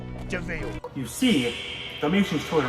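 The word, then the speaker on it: de Vil: Spelled devil, but it's pronounced devil.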